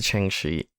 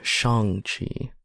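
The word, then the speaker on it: Shang-Chi: to bring it to change she sorry Shang Chi um which they make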